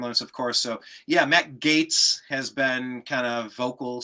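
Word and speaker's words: Gaetz: Gates or gets like Gates one million percent Gates not gets yeah that's I've always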